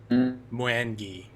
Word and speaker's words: Mwangi: Pronounced Mwangi.